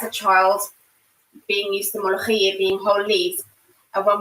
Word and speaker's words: mloukhiya: She said, no, it's mloukhiya. So I have to like cut out the extra O, mloukhiya.